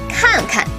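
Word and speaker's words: 看看: khan for means look can be reduplicated as kanka so the structure of reduplicated verb is simply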